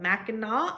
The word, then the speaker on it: Mackinac: is in Michigan at, I always say this name wrong because it is not how it is spelled. Mackinac Island, I believe it's actually called.